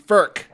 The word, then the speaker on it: Furk: Furk. Spell it.